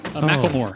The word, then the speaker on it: Macklemore: Mike, Macklemore.